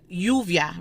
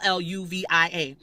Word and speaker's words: lluvia: That Y sound, UVIA. So it's Lluvia. Pero a veces decimos lluvia. Or sometimes you'll say llevar. Or sometimes you'll say llevar. Same exact word spelled the same exact way, and we're just using the sound interchangeably because Y and J have a very close relationship like that. They're basically the same letter.